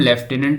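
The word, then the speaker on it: lieutenant: लेफ्टिनेंट यह शब्द भारत में प्रचलित है। हम लेफ्टिनेंट उच्चारण इसे करें। लेकिन ब्रीटैन का अंग्रेजी में यह लेफ्टिनेंट कहा जाता है हाँ।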